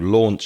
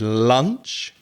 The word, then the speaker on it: launch: When you launch a podcast or you launch a business, the pronunciation is like law, when you study law, and then an nch at the end. So it's launch. Don't confuse it with lunch that you eat in